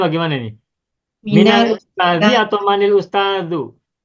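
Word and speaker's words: مِنَ: Nah, untuk min karena sebelumnya kasroh min, mi-nya kasroh, maka sukun pada huruf nun diubah menjadi fathah minal tuh.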